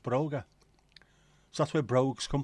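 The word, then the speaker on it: bróga: Tom Tom the Irish for shoes is Broger pronounced Broger so that's where brogues come from brogues before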